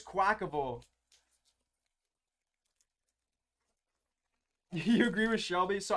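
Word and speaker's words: Quaquaval: the fire always X I know there's some debate on how to pronounce this name but I'm fairly certain it's quackable and that I've been mispronouncing it this whole time but there's gonna be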